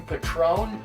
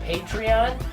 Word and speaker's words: Patreon: to read and think I'm trying to send you Patron I'm not sending you alcohol it's pronounced patreon so for those of